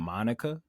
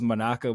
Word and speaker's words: Monaka: funny how like the the pronunciation in the dub kind of made it sound like they kept calling him Monica. I know it was Monaka, but it kept sounding like they were saying Monica.